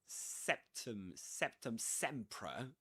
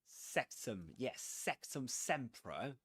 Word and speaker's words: Sectumsempra: English language, from queue to hierarchy to even Sectumsempra, a spell from Harry Potter. Sectumsempra, that one. We discussed loads of pronunciations.